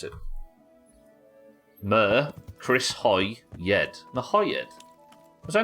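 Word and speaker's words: Merhojed: So it's Mahoyed. 3 syllables. Let's just fucking call it M-Town. What I don't understand is Siddle said it's 3 syllables. Hoy, as in Chris Hoy, and Yed.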